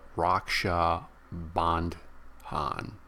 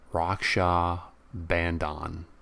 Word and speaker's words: Raksha Bandhan: a festival today the Raksha bond Han bond Han see sometimes that H is silent sometimes it isn't Raksha Bandhan and and so I